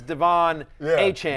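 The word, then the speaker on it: De'Von Achane: The correct pronunciation is Devon Achane.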